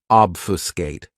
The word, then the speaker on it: obfuscate: my favorites is obfuscate this verb has three syllables and the stress is on that first syllable obfuscate what it means to